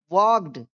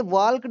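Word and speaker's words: walked: ई आर चर teacher वॉक्ड इसे वॉल्क्ड नहीं पढ़ेंगे क्योंकि इसमें एल साइलेंट रहता है।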